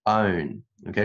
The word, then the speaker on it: own: flowering，OK，air flaring stars within our own galaxy，不是 on。可能会读成 on，是 own，OK，是 o 的音。这个单词的这种音呢，经常考到 own，也是中国学生比较弱的一个发音 own galaxy。However, new works points to a much closer origin, flaring stars within our own galaxy.